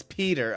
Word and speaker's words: Piotr: Is it P like I or P-E? What's up, Z? How are ya? It's Peter.